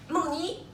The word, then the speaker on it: Moni: Is my Chinese name, and if you want to pronounce it perfect correct, it's Moni.